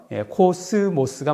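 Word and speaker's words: κόσμος: 그래서 즈 발음 나기 때문에 이거는 S 발음이 아니다. 뭐 이렇게 해서 나지만 그렇지만 헬라어로는요. 코스모스가 맞습니다.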